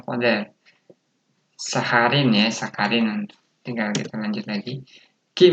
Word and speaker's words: sakarin: Konsonan menjadi K, jadi sakarin. Nah, tulisannya sakharin jadi sakarin ya. Sakarin, ya kan dibacanya.